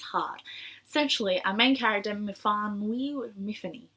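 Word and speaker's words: Myfanwy: Essentially, our main character, Miffany, she pronounces it Miffany, but Miffany, he wakes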